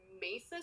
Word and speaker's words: Mesa: They left Riley's bag in his truck and found a bar on Mesa Street. That's how you pronounce Mesa.